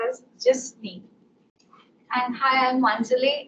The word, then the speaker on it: Jisny: It's pronounced as Jasni.